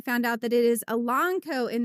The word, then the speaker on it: Elanco: I was 43 years old when I found out that it is Elanco and not Elanco. Elanco. Oh. Elanco, not Elanco.